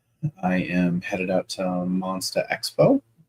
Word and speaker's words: Monstah: am headed out to Monsta Expo Monsta the New England pronunciation the Boston pronunciation and uh I'll be